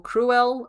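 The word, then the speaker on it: crewel: If you I did a video once that was like a bumblebee covered in cruel like or cruel. It's spelled C R E W E L.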